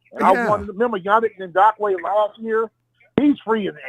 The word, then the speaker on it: Yannick Ngakoue: How do you pronounce his name? The other defensive end. Yannick Ngakoue.